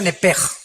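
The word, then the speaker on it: נֶפֶשׁ: Digo, por favor, esta palabra alma en el original hebreo es la palabra nepes. Apúntala como suena nepesh con sh se pronuncia nepej.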